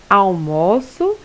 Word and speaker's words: almoço: seja, na sílaba tônica, como na palavra almoço, eu almoço, e no substantivo almoço, o almoço está pronto.